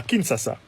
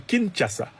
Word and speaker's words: Kinshasa: a clairement dit à kinsasa et me dit qu'il faut prononcer Kinshasa a clairement dit à